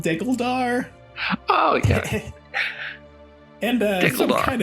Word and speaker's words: Degguldaar: I think you know that it is called diggledar okay and uh some kind of mispronunciation like that might get you laughed out